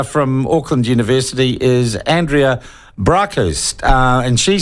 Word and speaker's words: Braakhuis: It's a Dutch name, as you can see, but yes.